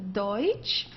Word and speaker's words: Deutsch: Okay, don't confuse it with Dutch. This is not Dutch, it's Deutsch.